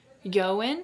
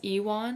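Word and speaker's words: Ioan: But yeah, um Ian Iwin Iwin Yoan. Okay, there's two ways to say. So it's a Welsh name and it's typically pronounced Yoan and but it depends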